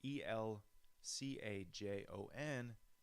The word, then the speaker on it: El Cajon: did he know I didn't even know about El Cajon until I bought a guitar El Cajon so it's a city in East County San Diego it's pronounced it's al Ajo n it means the cabinet in Spanish I believe